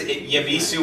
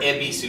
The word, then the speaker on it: Ebisu: Like, Japanese lagers, like even the standard stuff, the Suntory, the Kirin, the Sapporo, specifically, my favorite is Yabisu or Ebisu is actually how it's pronounced.